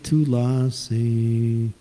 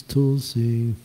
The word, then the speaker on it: Tulsi: - lassies and then that's not tulasi it's Tulsi or - lets see Tula Tula see the emphasis is on the last syllable not on the a when we're motoring sometimes